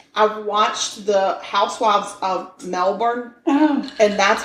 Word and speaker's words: Melbourne: I've watched the Housewives of Melbourne, and that's how they talk. I think it's Melbourne. Not Melbourne. Melbourne is the way they pronounce it. I'm pronouncing it the way it's spelled.